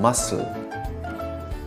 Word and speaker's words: muscle: B as in doubt C as in muscle d as in handsome